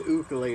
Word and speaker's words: ukulele: as fun as playing this little instrument the ukulele it's actually pronounced equally Elena's from Hawaii this is a tenor ukulele